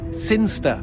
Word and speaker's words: Sinister: It's pronounced Sinster.